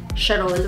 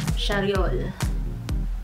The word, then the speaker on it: Charriol: I keep on pronouncing it as Charriol, whereas it is pronounced as Charriol.